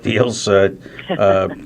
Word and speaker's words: Diehl: If people are able to take this down or want to go to the website right away, it's Deal for Senate, which is spelled DIEHL, and then FOR, not the number, but FOR, Senate.